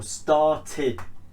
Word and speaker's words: started: Now instead of saying started, what you have to do is pronounce it with an id, id. So it's started rather than started. So started.